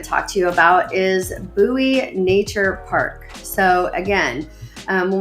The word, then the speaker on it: Bowie: Another thing that I want to talk to you about is Bowie Nature Park.